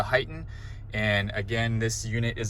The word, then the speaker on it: HEIGH10: It's kind of spelled HEIGH10, but it's pronounced the HEIGH10.